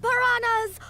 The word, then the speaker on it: piranha: in a school of piranhas. Oh my goodness. Why don't we pronounce the H in piranha? Because like it looks like it derives from Portuguese, in which case it would be piranha.